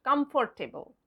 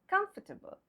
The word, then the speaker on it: comfortable: Not comfortable. Comfortable.